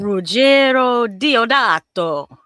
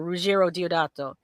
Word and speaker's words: Ruggero Deodato: I would like you to pronounce the director's name in your best Italian. Ruggero Deodato. Oh Jesus, What? Ruggero Diodato.